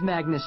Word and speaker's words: Magnus: them no it's Magnus rhymes with swag nice my mom named